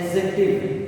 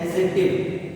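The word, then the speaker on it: adjective: डी लिखा हुआ है, इस डी को साइलेंट रखा जाता है कब, जब ए और जे के बीच में, जब ए और जे के बीच में क्या है, डी आए।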